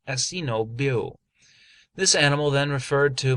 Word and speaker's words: Annebault: He bore the name of Monsieur de Annebault, which in our tongue is Monseigneur de Annibale, but the French pronounce it so that they usually made it sound like Monseigneur Assino Biot.